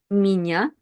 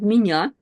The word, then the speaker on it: меня: Now, as you can see in the word меня, we have sounds m, ye. And if we combine them together by itself, we would read it as me, me.